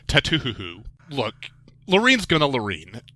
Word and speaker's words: Tattoo: your own podcast but I'm pretty sure the correct pronunciation of that title is tatuo look Loren's going to